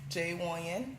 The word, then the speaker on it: Wonyon: Wonyon. Okay. That's J.Wonyen. So it's pronounced exactly how it's spelled.